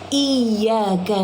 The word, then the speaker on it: iyyaka: Jangan membacanya sebagai iyaka na'budu wa iyaka nastain. Kamu terlalu cepat. Ada tanda syahadat pada huruf ya. Jadi ada dua huruf y. Tekankan selama dua ketukan. Iyaka na'budu, bukan iyaka na'budu wa.